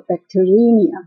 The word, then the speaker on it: bacteremia: ，所以其实是念作 Bacteremia，就是呢在血液里面出现的细菌叫做菌血 Bacteremia。